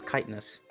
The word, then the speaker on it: chitinous: Fun fact: the CH is silent. It's chitinous.